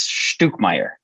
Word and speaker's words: Stuckmayer: name I mean I've always gone by stuck Meer but when I was uh traveling in in Germany I was at a at a hostel checking in and they were like you're saying your name wrong it's stook Meer so um so I'm